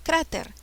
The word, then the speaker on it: cráter: sílabas cráter tras ver cuál es la sílaba que lleva la mayor fuerza de voz crã ter la sílaba cra es una palabra aguda esdrújula grave qué tipo de palabra es es una palabra grave porque lleva la mayor fuerza de voz es la penúltima sílaba ahora cráter se tilda